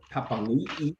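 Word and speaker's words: Papaliʻi: They've just got Papanui, if you want to pronounce it correctly nowadays, back from arresting.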